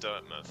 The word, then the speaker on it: Dirtmouth: the beginning of this it never occurred to me to pronounce dirtmouth like an English Village dmouth you you know you know the funny thing Paragon it didn't occur to me either until chat started saying it was pronounced dirtmouth so then I started